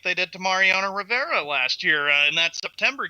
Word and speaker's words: Mariano Rivera: Okay, so since he made the announcement, does he do the Mario Rivera tour? Like Mariano, whatever the hell his name is. Mariano Rivera.